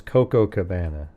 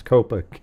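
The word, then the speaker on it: Copacabana: Yeah, I thought it was Cocoa Cabana, but it's Copa.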